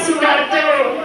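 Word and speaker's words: Soebardjo: OL jadinya tapi dibacanya Abdul Abdul Tahar Muzakir terus Haji Agus Salim Mister Ahmad Subarjo ini dibacanya Subarjo OE diganti jadi U Sugarjo dan Kiai Haji Abdul Wahid Hasyim mereka menyusun rumusan Pancasila melalui musyawarah dan semangat kesatuan.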